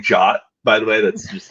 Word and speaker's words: JWT: So JWT equals JOT.